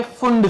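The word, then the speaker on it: Pfund: पर एक रहती है फुंड सीरीज इसको बोलते फुंड फंड ओ पी साइलेंट है समझ में आ रहा है ठीक है ये इसका प्रोनंसिएशन फंड होता है ठीक है फ्रेंच साइंटिस्ट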